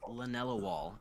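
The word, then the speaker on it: linalool: it let me see uh yeah it's l-i-n-a-l-o-o-l lanella wall it's uh let's see what's the flavor yeah I would that be how you pronounce it that is not at all how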